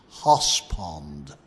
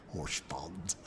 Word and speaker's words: Horse Pond: called horse in fact if i say it right it was hoss pond not horse pond hosp because that's how the locals said it and of course the